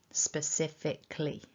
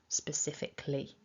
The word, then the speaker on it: specifically: syllables and pronouncing it specifically. So losing that tiny schwa in syllable 4, specifically, rather than specifically.